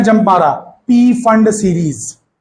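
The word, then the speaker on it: Pfund: उसको फंड series बोलते हैं, फंड, बट मैं पी फंड इसलिए बोल रहा हूं ताकि आपको एग्जाम में नाम याद रखने में आसानी हो, आप स्पेलिंग मिस्टेक्स ना करें।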